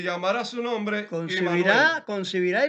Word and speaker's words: Immanuel: No, no se dice Emmanuel, se dice Immanuel, que es una composición de tres cosas.